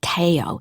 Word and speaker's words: Teo: to pronounce his name in italy they call him teo instead of theo isn't that cute they spell it t-e-o so i guess the e makes a long a in italian i should study the